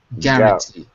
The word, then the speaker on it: guarantee: War guarant guantee yeah it looks like gu but we don't say the the U so it's it's actually gar guarantee guarantee excellent okay so now